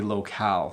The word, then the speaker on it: locale: would say finale and I would say locale so that's how I would pronounce those three I am not sure